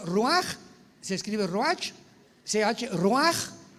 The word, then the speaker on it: ruach: Apunta la palabra espíritu del hebreo Ruach, con CH se pronuncia Ruach, como con J.